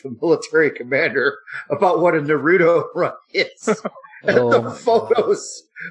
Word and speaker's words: Naruto: Yeah, it's sad that I know that you actually pronounce that Naruto.